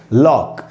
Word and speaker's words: lock: उच्चारण तो नहीं हुआ, लॉक। तो यहाँ पर सी साइलेंट है, क्यों? क्योंकि ये के पहले है।